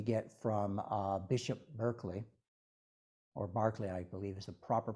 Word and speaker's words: Berkeley: from Bishop Berkeley, or Barclay, I believe is the proper pronunciation, but on the West Coast they call him Berkeley because of Berkeley, California, named after him.